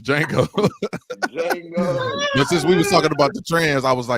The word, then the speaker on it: Django: was G say pause the D is silent oh it's Jango it's D Jango Jango since we was talking